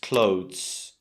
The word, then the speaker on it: clothes: It's just clothes, clothes. Try to think about it like close, like to close something. Maybe close the window, to shut the window. And then kind of add a very soft Z sound.